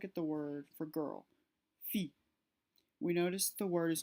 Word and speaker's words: fille: When there's a double L, it's more pronounced like a Y or an E instead of the letter L. So let's look at the word for girl, fille.